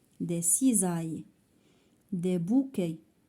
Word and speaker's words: bouquets: Des bouquets. s à la fin ما كنطقوهاش.